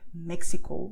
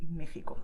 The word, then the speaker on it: México: with the letter X, the sound is not X like taxi, okay? It's a special word. So if you go to Mexico, never say Mexico, because okay, people won't throw stones at you. That won't happen, okay? Don't worry about that. But if you want to sound more knowing of Spanish, well, when you go to Mexico, just say Mexico, okay?